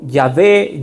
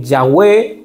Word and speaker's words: Yahvé: el idioma hebreo antiguo al vocalizar lo suena como yahvé yahwe o se traduce en el actual Jehová es el nombre de